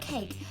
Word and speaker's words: cake: How about cake? What kind of cake would you like? Cake? I think you're mispronouncing cocaine.